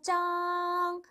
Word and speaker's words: 张: 그다음 짱이라는 양사 있데요 짱 중국어 발음이 우리말의 뜻 발음과 비슷합니다 장이에요 종이 한 장 맞아요 그때의 장이에요 중국어의 이장이라는 양사는 우리말과